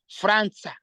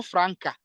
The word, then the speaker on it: Franca: Here we can read Franza, no Franca, Franza.